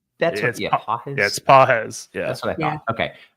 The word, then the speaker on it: Pages: good uh did get a question about if pages is worth a start since Freddy is out is that how you pronounce his name it's pz that's what I thought okay um anyways Christie